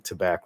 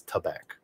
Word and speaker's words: tabac: You've been spelling tobacco wrong. It's not tobac, it's tabac. Tabac or tabac. You can pronounce it either way, but it's an A.